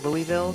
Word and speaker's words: Louisville: Maggie Harlow with Signarama in downtown Louisville, Kentucky. And Maggie, I understand that the technical pronunciation is...